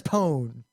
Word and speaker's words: pwn: 2 fps in days say putin to this day everyone who started using it recently says pone yeah you can tell how old someone is by how they pronounce that word i don't think that's